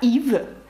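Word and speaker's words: Yves: марку і А зараз подивіться ще раз як пишеться ім'я Ів і бачите с наприкінці і ви знаєте що воно ніколи не читається марка косметики lнком е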